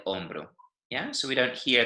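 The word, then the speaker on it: hombro: starts with an A but the H is silent right L on bro yeah so we don't hear that H at all it's also important to distinguish on bro from hombre yeah because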